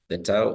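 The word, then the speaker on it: θῆτα: Then the theta is pronounced as Thi, just like in the word think.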